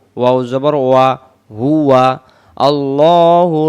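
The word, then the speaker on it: الله: ল হা পেশ হু আল্লাহু এখানে আল্লাহু বলবো আল্লাহ শব্দের ডানদিকে জবর থাকলে আল্লাহ শব্দের লামটাকে লা পড়ে ল মো মোটা করে পড়তে হয় আমরা বলবো আল্লাহু লাম আলিফ জবর লা তিন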